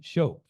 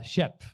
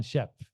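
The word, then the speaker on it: Schöpf: this is Dr schop uh Shep my German friends tell me it's uh pronounced Shep and uh Dr Shep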